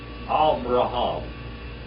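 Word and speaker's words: אַבְרָהָם: Avraham. That Beit there is a V sound.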